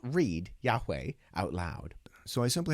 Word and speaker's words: Yahweh: Scribes, in order to remember not to say Yahweh, but Adonai, would point the vowels Adonai into the consonants of Yahweh.